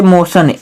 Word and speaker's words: motion: सा पढ़ते हैं, कहाँ जैसे मोशन, MOTION, इसमें हम क्या पढ़ रहे हैं दोस्तों, मोशन, टी को